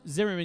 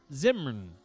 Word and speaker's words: Zimmern: is is pretty damn delicious uh andrew's andrew zimmerman used to say uh andrew zim zimmern i'm sorry if i'm saying it wrong you